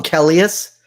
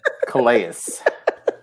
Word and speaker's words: Calais: Did you call him Kellius? I don't know how to pronounce his name. Calais. I like Calais.